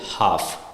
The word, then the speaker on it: half: So likewise, for the letter L, half, HALF, half, right? But when we pronounce it, the L is silent, right?